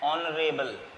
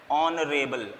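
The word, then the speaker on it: honorable: से हो रही है, लेकिन हम इसको पढ़ते क्या है, R, तो क्या आना चाहिए, NR, N ऑनरेबल, H silent रहता है इसमें, ऑनरेबल, इतना पढ़ेंगे हम, तो क्या होगा, N ऑनरेबल।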